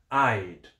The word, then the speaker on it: I'd: Então, I would, a pronúncia fica I'd.